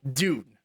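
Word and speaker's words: Dvne: Or Itimin Enka by Dune, which is pronounced D-V-N-E. So Dune with a V because it's more true, but it's not a black metal band.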